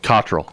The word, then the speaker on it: Cottrill: Cottrill.